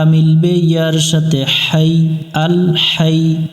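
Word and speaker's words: الحي: সাথে হাই আল হাই এখানে অনেকজনে আমরা এটাকে লম্বা হা বলে আরেকটা আছে গোল হা বা ছোট হা আমরা অনেকজন এখানে লম্বা হাই এর জায়গা গোল হা উচ্চারণ করি হা এই অক্ষরটা হলকের মধ্য থেকে একটু শসু বাতাস বের করে পড়তে হয় এখানে আমরা শক্ত করি অনেকজরে আল হাই হাই পড়া যাবে না হাই আল হাই ইউ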